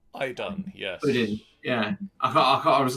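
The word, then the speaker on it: Iðunn: I can't remember how to pronounce it. Is it... it's Idun. Idun, yes.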